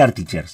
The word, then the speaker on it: artixers: voy a decir acá lo voy a pronunciar así los amigos españoles me dirán En qué región de España la x se pronuncia ch me gustaría que me lo que me lo comentara en el grupo de Telegram o acá mismo le voy a decir artic chers está porque es artic cers el programa Bueno antes